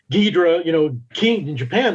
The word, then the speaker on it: Ghidorah: Ghidorah, the Dora, so the Dora of Ghidorah, right, is a Japanese phonetic pronunciation, reading of the first three letters of dragon.